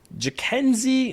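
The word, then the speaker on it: Jhonkensy: n480 PS very good stuff here now um I spent a lot of time looking at the pronunciations here jenzie Noel I believe is the pronunciation his nickname big Christmas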